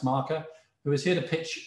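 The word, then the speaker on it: Markr: Ian slow from marker ma RK are but pronounced marker who is here to pitch us a bespoke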